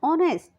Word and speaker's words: honest: Third, we use an before words are and honest. When we pronounce these words, H remains silent and we use an with the sound with the second letter of the word, that is a vowel.